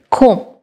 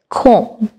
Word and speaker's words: comb: The right pronunciation will be comb. I mean, ei je m er por je b ache eta kintu silent hoye jacche. Ei b ta hocche pronounce hocche na. So, the right pronunciation will be comb.